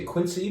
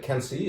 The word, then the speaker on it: Quincy: uh can see you might want to say quincy but can see is how you say another samyang block name